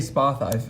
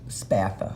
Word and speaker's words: Spatha: Draco once pathi it every time I say spa thighs I feel like I'm saying it with an accent spa though crusade es pathi no matter how you say it's spatha I guess it's the only way anyway I don't know